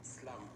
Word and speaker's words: SLVM: Alors, comment se prononce votre nom d'artiste? Parce que j'avoue que j'ai eu du mal. Il y a un S, il y a un L, il y a un V, il y a un M. Et comment on va prononcer ça? Tout simplement Slam.